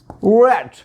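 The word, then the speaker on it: read: उसके बाद है वीवर्स मैं पढ़ता था, आई रेड। तो वीवर्स रीड की जो फॉर्म होती है रेड रेड होती है, लेकिन स्पेलिंग सेम लिखे जाते हैं, इसीलिए मैंने लिखा रीड है, इसे पढ़ेंगे रेड, आई रेड।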